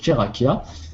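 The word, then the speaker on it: Tcheraqui: crois la dernière fois c'est chakia ça s'écrit T C H e r a Q u i ah oui en effet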